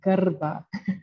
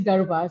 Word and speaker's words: Garba: You pronounced the last name very well, Garba. Oh, nice. So yeah, well, it is Garba. So that's fine. Sometimes it's pronounced a bit differently, but yeah.